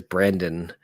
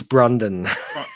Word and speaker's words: Brondon: Um but his name he he's a night watchman at the um museum in in number two and his name badge says Brandon and he's like it's Brondon Brondon pronounced Brondon.